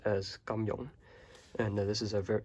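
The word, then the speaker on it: 金庸: two words over here in cantonese this is pronounced as gamjon and this is a ver he's a very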